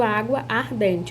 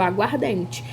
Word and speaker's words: aguardente: Então, eu não pronuncio água ardente, eu pronuncio aguardente.